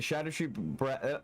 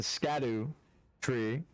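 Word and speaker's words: Scadutree: It's based off an old Celtic word that's pronounced like that. It's I on my first playthrough I called it the scatteru tree, but then I understood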